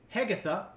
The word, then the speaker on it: Hegatha: The character name is Hegatha, pronounced like Agatha, Sidon.